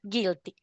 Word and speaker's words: guilty: So, you omit the U. U doesn't sound. It's silent. And you just pronounce I guilty.